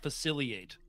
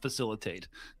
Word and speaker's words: facilitate: I do like how you pronounce facilate and not facilitate.